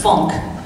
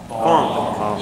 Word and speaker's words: funk: It's with an O. It's funk. Everybody practice. Funk.